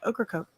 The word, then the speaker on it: Ocracoke: blackbeard and stuff yeah ocracoke it sounds like there's an okra coke that's yeah pretty much how it's pronounced outer but where's the